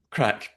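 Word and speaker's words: craic: Yeah, it's I'm pretty sure it's spelled C R A A I C but pronounced crack and like crack cocaine or something else.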